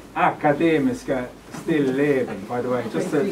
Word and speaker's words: Akademiska Stilleben: bye we're coming and uh um it's pronounced academy still living by the way just to just let you